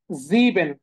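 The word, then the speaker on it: sieben: আর এখানে খেয়াল করেন সেভেনের যে উচ্চারণ সেটা হচ্ছে কি জিবেন জিবেন জিবেন জিবেন জিবেন ওকে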